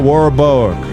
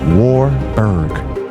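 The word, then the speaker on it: Warburg: Paul Warborg, I keep saying that man's name wrong. I don't know why. Paul Warberg later admitted that if the plan had been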